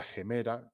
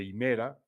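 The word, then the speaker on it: ἡμέρα: o guardamos algo, y el término hemero viene de la palabra gemera, en griego clásico sería gemera, que significa día. Hoy en el griego moderno se dice himera, lo tenéis en la expresión calimera, ¿no?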